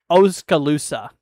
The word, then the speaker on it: Oskaloosa: The one by uh Oskaloosa.